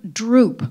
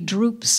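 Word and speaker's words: drupe: think about writing and the word droop which is in the first line is spelled d r u p it's not the verb to droop but it's a it's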